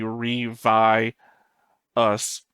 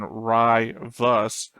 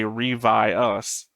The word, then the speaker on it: Ryvius: We have Alex in the chat saying, okay, I just looked it up, the pronunciation would be Revi us.